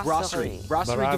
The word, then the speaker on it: Brasserie: but out of the b the br so grossery is the correct name and we are here